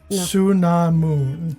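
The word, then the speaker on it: Anck-su-namun: Patricia Velasquez played an uh it's anamoon. Ansunamoon. actually did it phonetically.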